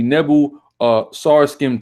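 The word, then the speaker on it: Nebo-Sarsekim: We have the it's pronounced the Nebu Sarskim tablet as well.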